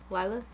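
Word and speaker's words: Lilah: Lila?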